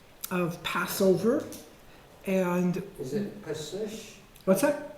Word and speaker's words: Pesach: This is more from the throat. Pesach. Pesach.